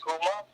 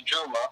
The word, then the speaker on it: Juma: My name, my last name is not pronounced Kuma. It's Juma with a J.